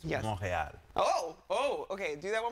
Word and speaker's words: Montréal: And you were saying it's pronounced Montreal. Montreal. But if you really want to be authentic, it's Montréal. Oh, okay. Do that one more time. Okay, wait. Ladies, Montréal.